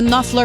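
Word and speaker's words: Knopfler: comment on prononce hein c'est ça nuffler parce que ça s'écrit pas comme ça se prononce moi te le dire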